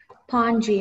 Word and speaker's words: pongee: Pongee. May I please have all the information? Hello? Yeah, I heard you. You want all the information, right? Okay. The only pronunciation is pongee.